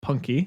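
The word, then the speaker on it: Punke: it written by Michael Punky is that how you say it punk I always say punk punk okay that was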